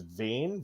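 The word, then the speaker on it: Vane: uh that pirate uh his name is vain v-a-n-e I think is how you would pronounce it um but like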